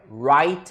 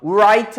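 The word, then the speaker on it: write: 것 같습니다 다음 넘어갈게요 와이트 입니다 w 발음 소리가 없어요 울 아이트 아니에요 우아한 쓰다 라는 티셔츠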